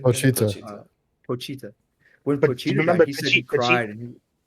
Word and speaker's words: Pochita: Pochita. Pochita. When Pochita died, he said he cried. And Pochita's the only thing he's ever had. Yeah. Pochita, because it's like he grew up with no one but Pochita.